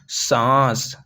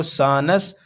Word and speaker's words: सांस: scene नस तो हम इसको नून को साइलेंट रखेंगे सांस सांस वैसे तो पढ़ा जाएगा अगर आप पढ़ेंगे इसको सानस लेकिन नहीं हम इसको साइलेंट रखेंगे सांस जैसा कि मैंने